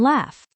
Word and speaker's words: laugh: Sometimes it makes an F sound, like in laugh. Laugh. L-A-U-G-H. Sounds like laugh.